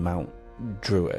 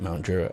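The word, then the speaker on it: Mount Druitt: And um I mean where you were living in Mount Druiter, is that how you pronounce it? Mount Drew.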